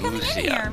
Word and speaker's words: Lucia: Lucia stopped by okay so her name is pronounced Lucia Lucia okay I came by to visit you